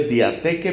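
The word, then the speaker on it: διαθήκη: Eso se escribe como se oye diatheke, pero con TH, diatheke.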